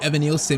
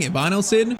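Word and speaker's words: Evanilson: And yeah, someone said I was saying Evanosen's name wrong. It's actually Evan Nielson. What was I saying? Ivon Nilson.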